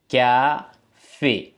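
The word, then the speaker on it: café: coffee என்றதை வந்து நான் பிரெஞ்சுல கேபே வாசிக்கிறேன் ம் கே ஃபே ம் லைக் எகி வந்திருக்கு கேபே இதோ உங்களுக்கு சொல்றது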